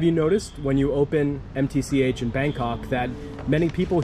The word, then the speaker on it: MTCH: It's MTCH. Okay, so you don't say match. Yeah, don't spell. Okay, MTCH, easy.